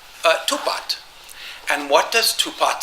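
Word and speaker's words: 吐蕃: that, we know that this Tufa name would have been pronounced Tupat. The Fa would have been pronounced something like Pat or Pat.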